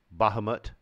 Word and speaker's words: Bahamut: how about that bailor yeah not a ballor Bahamut bah Bahamut okay that's fine bardashay this is